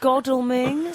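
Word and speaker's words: Godalming: near the post office excuse me guys it's godling sorry godling goding oh do you think I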